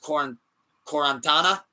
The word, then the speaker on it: Quaranta: I believe it's pronounced Quarantana. I think it's pronounced Quaranta. But Danny Brown Quaranta, it stands for 40 in Italian, I believe.